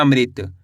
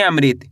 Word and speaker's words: अमृत: एक बार फिर से देखिए, अ, माँ में री की मात्रा मृ, तो मिलकर बन जाएगा अमृत। कैसे पढ़ेंगे? अमृत। आए समझ में?